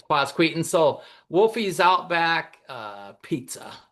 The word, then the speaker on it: Quasqueton: Everybody calls it Quaskki because they can't go Quasqueton. I don't think the kids that even grow up there can spell it or say it very well, but um but it's quaseton.